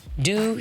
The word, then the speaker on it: Doux: Doux sounds French because there's some extra lettering at the end of it, all right?